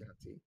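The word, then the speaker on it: Yuan-ti: Pronounced Yanti. Is it though? Yeah, it's called pronounced Yanti. But wouldn't the A be before the U if it was pronounced that?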